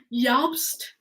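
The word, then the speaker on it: Jost: think Jastas pronounced yups the jays pronounced as a y in the european languages well I'm in America I say jobs Yost I you know I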